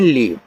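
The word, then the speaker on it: leave: Last में जो ई आता है हम उसका उच्चारण नहीं करते हैं।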